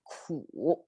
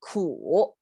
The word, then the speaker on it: 苦: to bitter, the character, a sound 苦, and it's the third sound, right? I make this symbol to mean it's you have to pronounce it with a downturn and upturn. Okay, 苦.